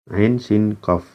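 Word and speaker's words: عسق: Ain sin qaf. Ya, bagaimana cara bacanya? Ini ya. Ain sin qaf.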